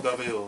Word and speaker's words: Deville: Am I pronouncing that right? Deville. That's another person I hadn't seen in a while. Deville, yes.